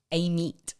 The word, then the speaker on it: Amite: A meat.